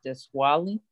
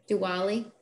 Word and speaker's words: Diwali: proclamation goes with it and happy is it this wally i'm pronouncing wrong the happy holiday the festive one today diwali yep thank you the one that i know